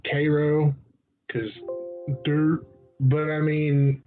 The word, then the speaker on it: Cairo: Cairo which is filled like Cairo but you pronounced Cairo cuz dirt but I mean it looks like